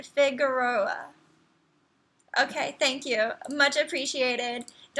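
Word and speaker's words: Figueroa: thank you you're welcome so Franco with the assist it's pronounced figuroa okay thank you much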